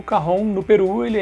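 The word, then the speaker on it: cajón: ele é um instrumento de origem peruana então se escreve carrão com j.c.a.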